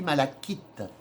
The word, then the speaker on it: malachite: Et retenez le nom, hein, c'est de la Alors, ça s'écrit malachite, mais ça se dit malachite.